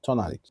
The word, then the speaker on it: Tonalic: É tonalic, a pronúncia correta. Eu tô falando tonalic, mas é tonalic.